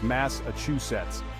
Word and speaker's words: Massachusetts: exploring this historic State remember it's Massachusets with all the syllables in their rightful place next we have Kentucky